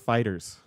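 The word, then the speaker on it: FighterZ: looked it up you are correct it is pronounced Fighters yes I got it that's just what I've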